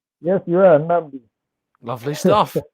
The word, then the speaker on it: Nnamdi: Let's go to Nnamdi, who I'm hoping I'm pronouncing your name correctly. Nnamdi, am I right? Yes, you are, Nnamdi.